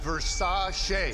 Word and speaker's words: Versace: Pronounced Versace.